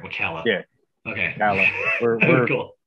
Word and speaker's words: Ocala: Okay, make sure I pronounce that right. Ocala.